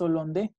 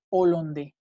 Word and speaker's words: hollandais: Por ejemplo, en este caso, nunca dicen les hollandais. Siempre dicen le hollandais. Los holandeses, le hollandais, siempre separado. O sea, no hacen liaison.